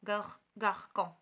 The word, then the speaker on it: garçon: Donc, بحال garçon راه كتقرا son ماشي con garçon.